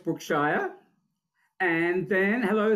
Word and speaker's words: Brookshire: And Brookshire, Shire or? Shire. Correct me, Shire. Okay, the correct pronunciation. So Brookshire.